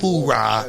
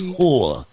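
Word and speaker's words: hooah: The right way to say it. Not that hoorah mess. Whoa. Not that hoorah. It's whore.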